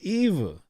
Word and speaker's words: Eva: her oh eva mendes is it eva or ava i thought was ava it's eva eva eva right yeah eva i don't know i just